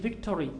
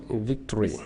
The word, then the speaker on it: victory: little bit complicated but because some people say victory victory the o is silent it's silent o victory victory history where